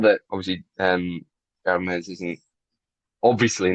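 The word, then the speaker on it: Hermès: Hermes, Hermes.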